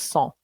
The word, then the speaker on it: cent: I don't think I did yet this year, but cent in French, cent equals 100. And it's actually pronounced cent. Different pronunciation, but it's the same spelling, same word.